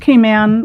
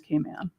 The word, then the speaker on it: Cayman: This is in So, it's pronounced Kay Man when you're on the island.